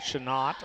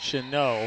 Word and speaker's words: Chanot: Boy, I sure hope I'm pronouncing that right. It's not Chanot or Chanot or something like that, but I think it's Chanot. I think the T is silent.